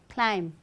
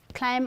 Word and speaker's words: climb: just after m right where the word ends with the letter b just after m b is silent so there's someone who